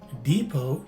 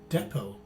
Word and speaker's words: depot: You see that for both variations, the stress is in the first syllable, and the letter T at the end is a silent letter T. In the first variation, the letter E is a long E, as indicated by the macron sign or the line at the top of it, whereas it's a short E in the second variation. So this word is pronounced as either depot or depot.